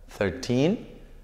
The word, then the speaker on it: thirteen: thirteen y sharp y fíjense ustedes la pronunciación como acá tiene el acento y acá no hay acento es karting 13 sarchí 30 thirteen thirty no es lo